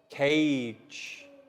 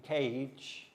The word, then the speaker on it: cage: For example, cage. The lion lives in a cage at the zoo. You can see the G in cage sounds like J. Soft G.